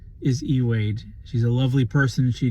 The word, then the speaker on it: Ey Wade: Wade for 15 years I've been calling her iwade for 15 years in this video you're about to hear me call her both iwade and eade her name is eade she's a lovely person she didn't get mad